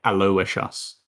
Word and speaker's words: Aloysius: after the broadcast, that you pronounce his name J.A. Aloysius. We will never call him that ever. J.A. Aloysius. It's spelled Aolyssussu, but it's Aloysius apparently.